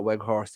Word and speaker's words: Weghorst: We're very lucky that we got Weghorst in. That's how you pronounce the fella's name, because we need him now with Martial picking up that injury.